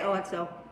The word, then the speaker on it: OXO: How do you pronounce it? I wish people out there. OXO. Some people call it OXO. I say OXO.